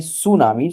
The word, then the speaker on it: tsunami: Actually, हम इसका pronunciation कहते हैं tsunami. So, T is silent for that, and it has been derived from Japan.